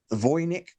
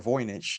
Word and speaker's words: Voynich: We are actually talking about the Voynich or Voynich, depending on how you pronounce it, manuscript.